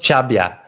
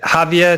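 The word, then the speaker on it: Xàbia: it's pronounced it's pronounced jabya it's like ha via to the to the English speakers or cha via to the to the natives yeah the it sounds like like Xavier that's fire to make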